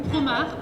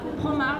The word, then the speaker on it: Promare: Ou Promare, Promare, prononcé à la française.